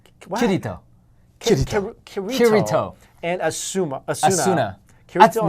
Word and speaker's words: Asuna: And Asuna. Asuna. Kirito. No, it's Atsuna. Oh my You gotta say it like the Japanese version.